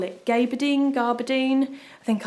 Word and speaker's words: gabardine: Gabardine? I think I call it gabardine and everyone tells me off and says you're not supposed to pronounce the R.